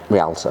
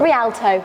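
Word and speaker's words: Rialto: with you um Reliant RTO is Realto um r i a l t o Realto Realto there we go we got there in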